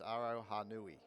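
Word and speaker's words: Aroha Nui: another GTL uh driver out there and it's it is exactly how you pronounce it. It's Aro Hanui.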